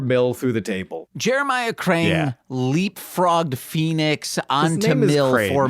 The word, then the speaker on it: Crane: His name is Jeremiah Crane. C R A N E. James pronounced it Crang with a G because Teenage Mutant Ninja Turtles.